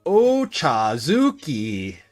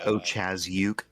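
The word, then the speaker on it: Ochazuke: Oazuki. Um, I'm pretty sure it's O Chazuke. Oh, yes. O Chazuke. That's it. That's it.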